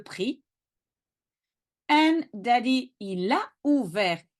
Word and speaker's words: prix: The merchant said to him, le prix, the price. Watch out, the X at the end you don't pronounce, le prix.